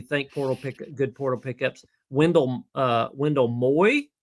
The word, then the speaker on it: Moe: Wendell Moy. I believe it's Wendell Moy, not Wendell Moe. We've been saying Wendell Moe. M-O-E, I think it's pronounced Moy, Polynesian descent.